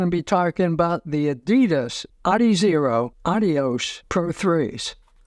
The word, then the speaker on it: Adidas: shoes from Adidas or Adidas as it actually is pronounced for the originator and founder of the company ad dasler a German started the big running